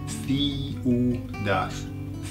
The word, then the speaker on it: ciudad: Okay, so listen to how it's pronounced. Ciudad.